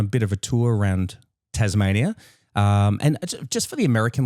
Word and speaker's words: Tasmania: No Z in the word Tasmania, is there? There's no Z in... No. It's an S. Yeah, Tasmanian. It is Tasmania, but the Americans... But everyone pronounces it with the Z, so we just lean into it.